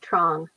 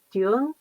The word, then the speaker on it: Duong: The American pronunciation would be Trong, but it's actually Duong is the Vietnamese pronunciation.